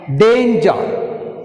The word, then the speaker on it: danger: Danger. Danger, the stress is shown first syllable Dan.